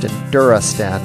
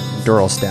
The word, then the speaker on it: Enduristan: So while we get the Husqvarna loaded up with adventure gear, it's pronounced Enduristan, not Enduristan.